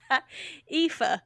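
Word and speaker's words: Aoife: How is that pronounced? EA. That's pronounced. Okay, folks at home, it is spelled A1 F. No, no, it's spelled A O I F E.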